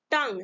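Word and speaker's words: tongue: उसके बाद अगर शब्द के अंत में जी यू लगा हो तो यू हमेशा साइलेंट होता है। ठीक है, किसी शब्द में क्या लगा रहेगा, जी यू ई लगा हो तो उसमें क्या साइलेंट है, यू। एग्जाम्पल यहाँ पे है टंग, देखिए यहाँ पे टंग है ना, टी ओ एन जी यू ई, यहाँ पे क्या साइलेंट, यू।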